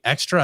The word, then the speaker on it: XTRA: I keep wanting to say extra. I don't know which way is the right way Extra, to pronounce Brian. it. It's pretty It should be extra?